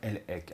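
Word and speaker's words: Elhaik: Et vous avez un généticien américain qui est d'origine juive qui s'appelle Eran Lek. Alors Eran s'écrit E R A N.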